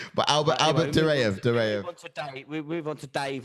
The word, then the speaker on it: Duraev: There's not even an L in there. You pronounce it with an L. DURAEV. Albert? Albert DURAEV. Albert Dulaev, you said.